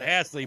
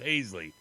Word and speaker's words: Hasley: told him I well in Louisiana they might pronounce it hassle but in Iowa it's pronounced hazley well and then you said